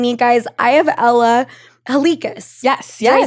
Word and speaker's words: Halikas: I have Ella Halikas.